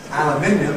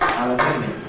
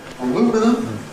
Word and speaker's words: aluminium: tin, made of aluminium, aluminium in British English is double stressed, aluminium. And so you get an aluminium can. An aluminium can. Americans though call this substance aluminum, which has a single stress, so it's an aluminum can.